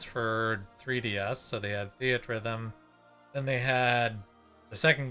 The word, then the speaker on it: Theatrhythm: I've known it as Theatrhythm. So it's theater and rhythm put together in one word.